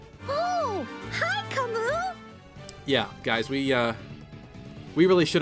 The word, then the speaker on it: Camus: livestream, which finally yielded us with an official pronunciation, Camus. Oh, hi Camus!